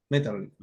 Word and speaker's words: Maeterlinck: de Metterly, Maeterlinck, así se escribe, Maeterlinck, Metterlinck, la trilogía de la muerte.